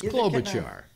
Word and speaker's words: Klobuchar: They can't pronounce it either. Neither can I. It's Klobuchar.